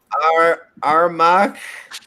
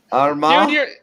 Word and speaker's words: Armagh: No, I want you to pronounce them and I'll correct you. Honestly, I can barely even read them. Antrim, Armagh, No. Armagh, Dude, you're not involved in this.